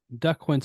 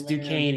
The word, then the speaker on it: Duquesne: um I mean look at least they got duck Quints on the schedule um I'm just kidding that's uh yeah last year when you're trying to pronounce it for the Florida state opener and I said it's Duquesne and you're just like